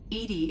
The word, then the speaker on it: EDI: Um, oh, why are you named Edy? Edy is the phonetic pronunciation of EDI.